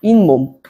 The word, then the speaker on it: 잇몸: 그러면 무엇이 덧난다? 니은이 덧난다. 그래서 인몸이라고 한다. 인몸.